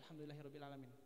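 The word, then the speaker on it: الحمد لله رب العالمين: Alfatihah alhamdulillahiabbil alamin Nah itu kan harusnya dia pakai ha kecil at ha tipis alhamdu Nah kalau itu kan artinya apa Alhamdulillahi rabbil alamin segala puji bagi Allah tapi kebanyakan orang bacanya alhamdulillahabbil alamin pakai h besar artinya bukan segala puji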